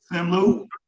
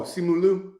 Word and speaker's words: Simu Liu: Sim Lu. Who is the actor? Sim Lu. I can't pronounce the name, but I know the initials is SL.